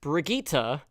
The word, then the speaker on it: Brigitte: It's pronounced Brigitte.